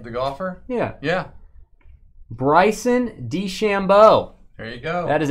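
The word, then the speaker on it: DeChambeau: nba now as well classic design man did shambo is that the name to shambo that how you say it the golfer yeah yeah bryson d chambeau there you go that is a portrait auto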